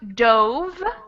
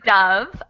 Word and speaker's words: dove: have this o and it's the simple past it becomes dove with that o sound so the first word is dove uh and the second one is dove yeah it's O and